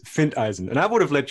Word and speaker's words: Findeisen: his name is Friedman find Eisen oh no I butchered it I butchered it Fink didn't dice okay you tell me what it is it's fint Eisen and I would have